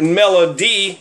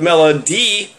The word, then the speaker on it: Melody: When his first wife, Melody, she pronounced it Melody instead of Melody, Mellow D-I-E instead of Mellow D-E-E, which he always thought was kind of creepy.